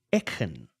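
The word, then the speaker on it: Eachan: I got E A C H A N, which is each with an A N at the end, but that's not how you say it. And I've been trying to rack my brain around how to say it. And it seems as though it's something to the effect of een.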